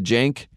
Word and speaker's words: Jank: the Jank. They call him Jank. I've never heard something that's supposed to be positive that rhymes with shank, but it's called the Jank.